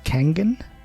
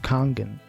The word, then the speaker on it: Kangen: and I learned that even though it's spelled with an A and it sounds like you want to say kangin it's pronounced kangen alright hang tight everybody